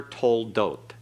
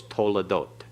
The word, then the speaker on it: toledot: This is never toldot, it's toledot. Toledot pronunciation.